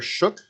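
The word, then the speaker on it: Shough: know how you pronounce I've heard it both ways and I have no idea shuck yeah well I mean the guy's on the broadcast don't always know what the hell they're talking about that's true Tyler shuck okay let's call it that I want to hear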